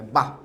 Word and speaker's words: বাহ: যেমন অনেকে এইভাবে লেখে না, বাহ চমৎকার, তখন এটার উচ্চারণ কি হয় জানো? বা, বা, একটা থাম দেয়, বা, ঠিক আছে, মানে হ বর্ণের বদ্ধরূপ। বদ্ধ হ উচ্চারণ করি তো আমরা হ টেনে, কিন্তু বদ্ধরূপ মানে আর টানা যাবে না, ওটা আটকে যাবে, বাহ, বাহ।